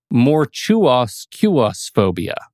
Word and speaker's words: Mortuusequusphobia: And I need to go to my notes because I had to write a phonetic pronunciation. Oh, sure. Mortuoscuosphobia.